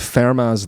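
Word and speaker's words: Fermat: um and and the he fell in love with Farah's last theorem. I think I'm pronouncing that correctly. F E R M A- A- T, but I think he's French. Um Farma's last theorem.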